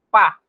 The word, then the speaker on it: pas: Ahora, en el lenguaje hablado, usted puede notar que la S no la pronunciamos.